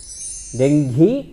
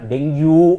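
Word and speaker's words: dengue: ಉಚ್ಚಾರ ಮಾಡುವುದು ಬಹಳ ಕಷ್ಟ ಡೆಂಗ್ಯು ಅಂತ ಕರೀತಾರೆ ಆ ಡೆಂಗ್ಯು ಆಗಲ್ಲ ಅದು ಅದು ಡೆಂಗಿ ಅಂತ ಯಾಕಂದ್ರೆ ಈ ಡೆಂಗಿ ಅನ್ನೋ ಶಬ್ದ ನಮ್ಮ ದೇಶದಲ್ಲ ಆಫ್ರಿಕಾ ದೇಶದ್ದು ಹಾಗಾಗಿ ಮೂಲ ಉಚ್ಚಾರಣೆ ಡೆಂಗಿ ಅಂತಲೇ ಇರೋದ್ರಿಂದ ನಾವು ಹಾಗೆ ಬಳಸಬಹುದು ಈಗಾಗಲೇ 8000ಕ್ಕೂ ಹೆಚ್ಚು ಜನ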